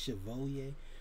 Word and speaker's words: Chevalier: foe the photo Chevalier it spelled like Chevrolet or something like that but it's pronounced Chevalier so I just you